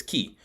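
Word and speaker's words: kiiy: want to know is k i i y pronounced as key k i i y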